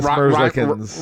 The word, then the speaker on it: Merzlikins: Yeah, Elvis Merzlikins. Rhymes with Schmorshin. Yeah, Elvis Merzlikins.